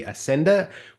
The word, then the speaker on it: Assender: I'm Johnny, and today I am chatting with Emily Assender, who's the COO and the co-founder of Revelesco. Did I get the pronunciation right?